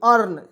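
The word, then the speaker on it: earn: ना चलिए या लड़को ई ए आर एन अर्न तो ई ए आर एन इसका उच्चारण होगा अर्न के रूप में ठीक है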